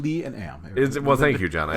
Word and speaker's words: Liam: Well, it's proper pronunciation. Lee and Am. Well, thank you, John. I appreciate the support. Liam, actually.